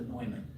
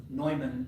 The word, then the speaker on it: Neumann: His real name is Arthur Neumann. Neumann spelt and pronounced in exactly the same way as the great mathematician John von Neumann.